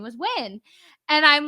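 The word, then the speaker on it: Nguyễn: He was like, it's actually pronounced Win.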